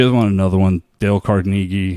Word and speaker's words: Carnegie: The name Carnegie is not pronounced Carnegie. It's pronounced Carnegie.